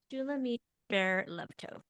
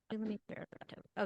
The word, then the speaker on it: Shulamit Ber Levtov: Shulamit Ber Levtov. Bear Bear. Lev Tov. So Shulamit Ber Levtov. Yep, you got it. Shulamit Ber. Shulamit Ber Levtov.